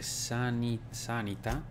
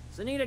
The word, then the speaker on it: Sanita: Questa incisione dice sanità, non sanità, non c'è l'accento. Sanita gave me this lighter.